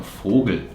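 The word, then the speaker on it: Vogel: and fergun like fergal is the plural from fogel which is bird like bird fogle and fergal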